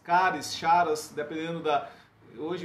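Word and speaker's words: χαρά: Alegria, essa palavra alegria é uma palavra grega que é chara, ou caras, caris, charas, dependendo da... Hoje é uma palavra grega, as pessoas pronunciam de várias formas, mas eu prefiro falar em chara, que é a sensação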